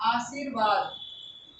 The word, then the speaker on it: आशीर्वाद: आशीर्वाद, इस तरह से लगाना है।